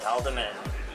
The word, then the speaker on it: Haldiman: Pool's GNERD Corner, and I am here with Philip Haldiman. That's how you pronounce your name, right?